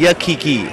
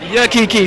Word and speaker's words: Yakiki: Yakiki? Is that how you? It's Yakiki. Yakiki. So you got to know how they say it.